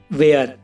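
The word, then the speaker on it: where: H silent रहता है और डब्ल्यू के बाद एच हो तो भी एच साइलेंट रहता है। For example, वेयर। और इसमें देख लो गाइस, डब्ल्यू के बाद एच है तो यह एच साइलेंट है।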